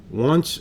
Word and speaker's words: once: line at a time once upon a time there was a little girl named Goldilocks so this word is a little bit funny because it spells once but there's no W in here it means one time